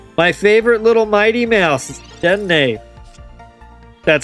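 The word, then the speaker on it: Dedenne: And, oh, my favorite little Mighty Mouse, Dene. That's how you pronounce it.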